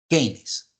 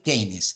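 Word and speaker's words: Keynes: bienestar fijaros base fundamental keines otro de los autores potentes bien de tiempo no Quién fue keines en verdad se pronuncia Ke vale pero para los amigos kein John mayar kein o kein era un economista él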